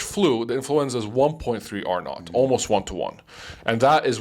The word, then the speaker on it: R naught: Because so when it comes to diseases, there's something called R naught, which is R0, but the zero obviously is not like nautical content, so it's spelled R-NAUGHT.